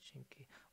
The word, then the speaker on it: Shinki: Also, Remy is the best, and that's how you say it, Shinki.